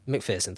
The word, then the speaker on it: McPherson: P-H-E-R? P-H-E-R, yeah. Say Pearson. McPherson, thought so, okay.